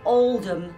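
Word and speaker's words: Oldham: was born in England in a town called Alum which is spelled Old Ham I'm not saying nothing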